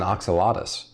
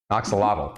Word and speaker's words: axolotl: one and you said the runner-up is an oxalatus what it what is an oxalates for those who might not know it's a lotto Axolotl I'm sorry yep no that's okay it's a